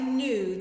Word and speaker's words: knew: in here like i knew that it was time to get ready for school nu k n that k is silent e w and the